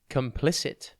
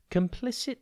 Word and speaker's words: complicit: i c i t think comp then lick without the K at the end and then it complicit describes someone involved with